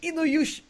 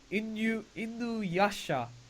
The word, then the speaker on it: Inuyasha: She says, Inuyasha. Inuyasha. Is that how you say? Inuyasha.